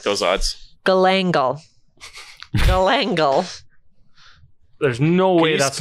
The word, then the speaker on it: galangal: Galangal. Galangal. There's no way that's not a sex thing. Can you spell that word?